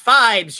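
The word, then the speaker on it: Phibes: It's pronounced Fibes, you Philistine. Sorry, or like, although I can show you.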